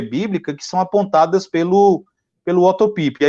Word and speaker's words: Otto Piper: Como é alemão, seria Otto Piper. Otto Piper, né? E aí ele vai citar 4 limitações da teologia bíblica que são apontadas pelo Otto Piper.